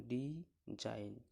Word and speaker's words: design: ডিজাইন, শেষে এই যে নতে এন উচ্চারণ হচ্ছে, জির উচ্চারণ হচ্ছে না।